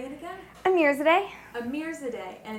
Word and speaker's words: Amirzadeh: So it's P as in princess, and then my last name is Amirzadeh, A-M as in Mary, Irzadehasl. Say it again. Amirzadeh. Amirzadeh, and it's A-I-R? A-M-I-R. A-M-I-R. Yep. Amirzadeh.